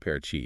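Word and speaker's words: Paraty: Parity. Ah, Parati, pronounced Parachi, yes.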